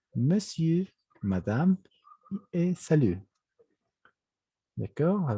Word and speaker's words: monsieur: Es decir, que la E aquí no se pronuncia y simplemente es como decir monsieur.